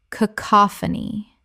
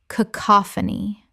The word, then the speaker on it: cacophony: cacophony Correct pronunciation. cacophony Four syllables with a stress on the second.